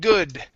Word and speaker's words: good: Okay, we're going to do the same thing with good. Okay, instead of goo, open up your mouth. Good. Good.